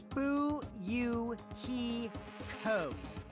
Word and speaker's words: Fuyuhiko: last name is my first name is pronounced boo you he code i'm still an inexperienced member of my family's